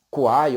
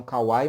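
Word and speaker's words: Kwai: Kuai ou Kauai, alguns falam Kauai, mas me parece que a pronúncia correta é Kuai.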